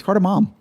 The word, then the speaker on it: cardamom: of fresh pear banana cardamom cardamom is that how it's spelled mom isn't there an n at the end it's carter mom oh for christ's sakes